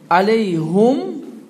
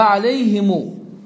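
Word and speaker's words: عليهم: Bu him Arap dilinde 3 formada okunur. Aleyhim, aleyhum ve aleyhimu. Her 3 forma Arap dilinde var. Aleyhim, aleyhum, bir de aleyhimu.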